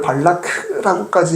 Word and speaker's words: 발락: 한글로는 발락이지만 실제로 발음을 발라크라고까지 해야 좀 맞습니다.